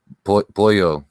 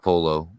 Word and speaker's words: pollo: can kind of translate the polo boyo not polo oh yeah yeah yeah